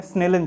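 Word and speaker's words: Snellen: जी हाँ, प्रोनाउंसिएशन है स्नेलन chart.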